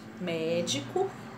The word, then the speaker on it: médico: O próprio som, o próprio sinal me diz que a sílaba tônica é o mé. O có é a última, o di é a penúltima e o mé é a antepenúltima.